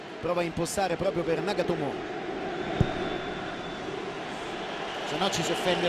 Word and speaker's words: Nagatomo: laterale diciamo subito che la pronuncia esatta la giapponese proprio nagatomo con due accenti un tocco di vucinic